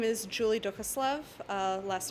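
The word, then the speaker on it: Duchoslav: perfect thanks ryan so my name is julie dukaslov last name is spelt d-u-c-h o-s-l-a-v and i'm a first name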